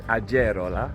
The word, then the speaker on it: Agerola: pronounce this between us in Spanish the G is like a h sound which of course is not true in Italian but also we were